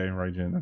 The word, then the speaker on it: Raijin: It's pronounced like right. It's for the Japanese word of thunder. Oh, okay, Raijin.